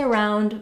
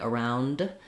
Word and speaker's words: around: When we say around, we don't say a strong D like around, unless we're linking it to a vowel, like around it, then you clearly say your D. Otherwise, you're going to have an unreleased D there.